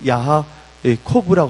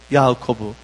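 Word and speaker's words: יעקב: 이 야곱이라는 이름은 원래 히브리어로 보면 야하코브라고 합니다. 야하코브. 그래서 이거 빨리 해서 야곱, 영어로 하면 제이콥인데 야하코브라고 발음할 수가 있는데, 이 야하코브라는 명사는 바로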